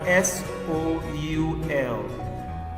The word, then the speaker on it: soul: good then we have s o u l here o u is making an o sound soul s o u l